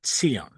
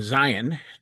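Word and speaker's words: ציון: And that's why I titled this video, Zion versus Tziyon. So I want to use those two words, the English pronunciation Zion, to talk about Zionism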